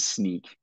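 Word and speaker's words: Snyk: is that Docker and sneak or Snick depends on how you pronounce it I've heard both will they partner together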